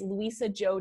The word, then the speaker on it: Luisa Zhou: gonna spell it out because my name is not spelled how it sounds the link is Lisa Jo comm slash gift and